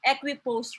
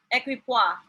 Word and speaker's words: equipoise: this thing we call equipose rule so what is this equipoise rule equipoise rather as my classmate mentioned the incorrect term of pronouncing it so it's evidence of